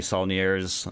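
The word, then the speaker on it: Saulnier: um like I said if you like Jeremy snier that's how you say his name if you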